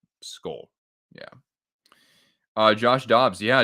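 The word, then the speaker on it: skål: little circle so um when it has when it's a with that little circle over it it's pronounced like O So skull yeah uh Josh dobs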